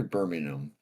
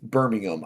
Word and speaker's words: Birmingham: and you've lived kind of near Birmingham. Mm. Birmingham.